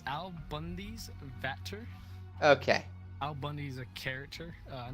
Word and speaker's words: AlBundysVater: How do you pronounce this name? Well. It's AlBundysVater.